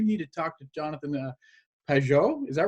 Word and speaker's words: Pageau: I've had people get on my blog, on my channel, and said, you need to talk to Jonathan Pageau. Is that right? That's right. You got the right pronunciation.